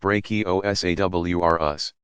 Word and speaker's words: Brachiosaurus: Used to be called Brontosaurus, and Brachiosaurus, pronounced Brachiosaurus. Which weighed around 80 tons, that's 160,000 pounds, or 72,640 kilograms, and stood 50 feet, 15 meters, tall.